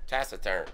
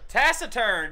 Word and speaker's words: taciturn: you remember another one tacern taciturn God dang it that is right yeah man not only